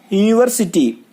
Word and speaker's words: university: Then second use, in the word university the letter U has a consonant sound of Y and not the vowel sound of U.